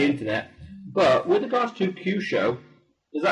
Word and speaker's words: Kyusho: But with regards to Kyusho, is that how you pronounce it exactly?